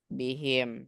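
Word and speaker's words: بهم: paling bawah di sana Kenapa dibaca him karena sebelumnya itu kasrah kalau sebelumnya kasrah maka dibaca him bihim Nah jadi dinya karena sebelumnya kasrah tanya Ustaz Eh tadi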